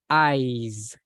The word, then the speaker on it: eyes: we have eyes so be careful with the pronunciation of this word because we don't want to say eyes because eyes is yellow yellow yes yellow eyes but when we talk about the Oregon we we use like Z at the end eyes my eyes because if